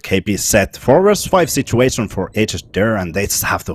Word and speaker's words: HSDIRR: It is HSDIRR. That's how Finnish would pronounce that. HSDIRR.